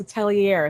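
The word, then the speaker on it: Atelier: for this character but they were saying oh no it's a Tellier it's like oh so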